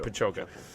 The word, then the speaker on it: Pajoka: But Braden, how would you pronounce that, Andy? I think it's Pajoka. Pajoka. That's right, Pajoka.